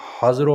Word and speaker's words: Hazro: और तकरीबन जो मुजाहिदीन थे वो सेकंड लड़ाई कहाँ लड़ी गई थी, हाजरों में, HAZRO। ठीक है, यही होगी प्रोनाउंसिएशन।